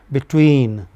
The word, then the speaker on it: between: The other syllables perhaps say for example in a word like between be takes maybe 100 nanoseconds but tween takes 700 nanoseconds.